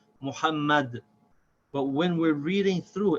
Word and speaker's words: Muhammad: And a very important point to remember, this ha in the word Muhammad is the hard H, not the soft H. It's not Muhammad. Muhammad.